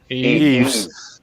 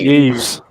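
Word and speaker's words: Yves: Eves. I think it's just Eves. There's no S sound on the end. It's just No, Eve. no. There's no S sound. It's Eve.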